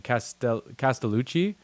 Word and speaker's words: Castellucci: Castellucci.